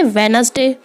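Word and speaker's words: Wednesday: जैसे वेनसडे, वेनसडे में D silent है।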